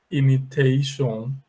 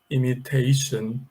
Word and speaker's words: imitation: E alguns alunos falam assim, destination, imitation, tendendo a pronunciar um som de O fechado, O, mas a verdade não é. A pronúncia é assim, olha, destination, and here we say imitation, tá bom?